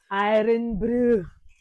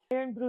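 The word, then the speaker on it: Irn-Bru: Iron Brew. Iron Brew is a drink from Scotland.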